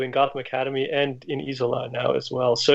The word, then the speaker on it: Isola: So just to make it's pronounced Isola then. Well, I mean, the proper Italian pronunciation is probably something like Isola, but neither of us speak Italian.